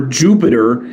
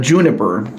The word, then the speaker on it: Juniper: I know some people accidentally call Juniper Jupiter or mispronounce her name as Jupiter, but Juniper.